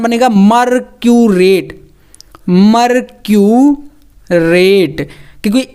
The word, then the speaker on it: मर्क्यूरेट: तो Hg मतलब कि क्या है, ये मरकरी है, तो यहाँ पर आप 8 जब जोड़ेंगे तो कैसे ये बनेगा, इसका उच्चारण बनेगा मर्क्यूरेट, मर्क्यूरेट, क्योंकि 8 आपको यहाँ पर समझ में